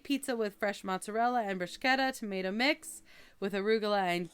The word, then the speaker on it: bruschetta: You get a K in there somehow. I don't know.